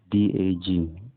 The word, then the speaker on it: dak: from the plural personal is written d a k or d a g or rather written dak on the pronounced dag for example nayadak nayadak